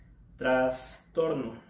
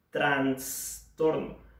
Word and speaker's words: trastorno: con una s aunque tras torno como como sí dijéramos también traste ok trastorno no lo vamos a pronunciar con una n como transporte trans torno si es un error